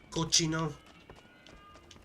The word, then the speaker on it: Cochino: Cochino. That's actually, I think that's how you actually pronounce it. It means like sicko or disgusting in Spanish.